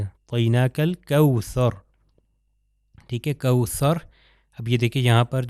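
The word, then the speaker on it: أعطيناك: اس کو لمبا کھینچیں، طوئی عین کا تلفظ صحیح اور طا کا تلفظ جو ہے صحیح طریقے سے ہونا چاہیے، اعطیناک الکوثر، ٹھیک ہے، کوثر۔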